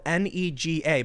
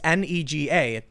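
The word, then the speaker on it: 那个: It's spelled Nega, but I really am worried because YouTube uses an automatic speech-to-text filter, and then when they hear, they're like, up, banned. Yep. So it's Nega, and some people say it's pronounced nay, and then ga, and you can understand why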